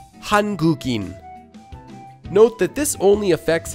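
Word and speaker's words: 한국인: Because there's an empty letter at the beginning of the sound in, whatever letter before it can flow through it as if it were connected. Here, the sound gu comes before in. So, we can combine it to sound like this.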